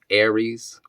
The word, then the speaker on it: ARES: There's another brand that also distributes these low clearance sockets, I believe is Aries too. That's spelled ARES, Aries.